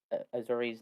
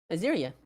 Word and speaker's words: Azuria: If she's not casting it as a ritual, if Azuri's not. Sorry, can you say the name one more time? I keep on saying Azuri. Azuria. Azuria. Sorry, I keep on saying it wrong.